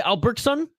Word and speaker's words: Albertson: uh Carl Alberts Albertson Albertson is how you say Albertson Carl Albertson that sounds